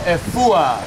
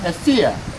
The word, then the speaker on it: Efua: You are now Efua. Say it. Efua. Efua. It can also be pronounced Efia. Efia, Efua. Okay. It's both the same. But here in Fante Land, we would say Efua.